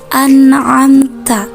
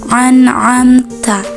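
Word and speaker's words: أَنْعَمْتَ: Lanjut ke ayat 7, kesalahan yang sering ditemukan yaitu pada kalimat an'amta. Sering kita menjumpai membacanya dengan cara menjadikan a dengan ain. Itu kurang tepat seperti ini. An'amta.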